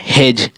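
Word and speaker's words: hedge: बी क्या है, silent है, तो ये हमारा हेज, हेज उच्चारण हो रहा है।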